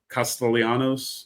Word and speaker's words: Castellanos: He's the little Boston college quarterback who transferred over uh in Castellanos, except for you do pronounce the L's on it.